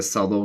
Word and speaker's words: subtle: He is such a subtle guy. Yours sounds like, yeah, that's exactly what I said. And I think subtle has a different pronunciation in British English and American English.